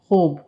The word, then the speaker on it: خوب: خوب کا تلفظ خوب.